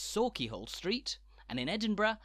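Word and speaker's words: Sauchiehall Street: Scotland's big cities too are laden with traps, so remember that when you're in Glasgow, it's Sawkeyhole Street, and in Edinburgh, it's Coburn Street, not Cockburn, and it's Holyrood, not Holyrood.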